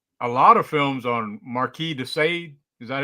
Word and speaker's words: Marquis de Sade: Based a lot of films on Marquis de Sade. Is that how you say it? The Marquis de Sade, yeah.